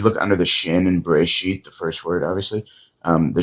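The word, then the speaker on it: בראשית: So the aleph actually closes the reisha syllable. See what I'm Bere saying? See what I'm saying? sheet. Bereshit. Yeah, and then the accent is under the shin.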